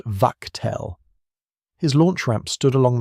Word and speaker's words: Wachtel: The unit that ran the bombardment was a Luftwaffe formation, Flak Regiment 155, under a colonel named Max Wachtel, pronounced Wachtel.